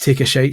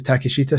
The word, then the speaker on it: Takeshita: What my wife is convinced is pronounced Take a Shite Street, but it's actually Takeshita Street.